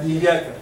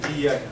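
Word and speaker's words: إياك: And Iyaka, yes, and Iyaka also. It's double, okay? Iyaka, not Iyaka. Iyaka only without double, it is in Arabic, means totally different thing. Iyaka means that the sun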